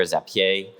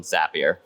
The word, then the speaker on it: Zapier: question I get is how on Earth you pronounce it is it zapier zapier if you're French speaker zapier it is not the last one it is the first one zapier uh my world uh I started my career